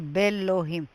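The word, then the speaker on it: באלהים: If I want to say in God, I would say belohim. The aleph is silent in all three words.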